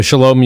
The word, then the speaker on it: Shalom: a great question so Shalom you would typically think sha LOM right that's the the Hebrew pronunciation of the word peace or hello goodbye as said in Hebrew but Sholem Park is